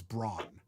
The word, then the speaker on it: Braun: And the one thing the guy brought up was Braun. So Braun, the personal shavers you can buy. Braun. Yeah. It's Braun. But we pronounce it in North America because of the marketing.